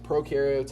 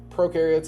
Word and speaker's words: prokaryotes: So the trick I use to kind of remember the difference between these two is that pro rhymes with no, so pro has no nucleus.